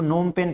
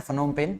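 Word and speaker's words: Phnom Penh: इसको नोमपेन पढ़ना है। फनोमपेन नहीं पढ़ना है। पीए जो है इसमें साइलेंट है।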